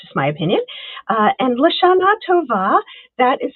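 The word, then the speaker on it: L'shanah tovah: Uh, and Lashana Tova, that is how you say this um this saying right here.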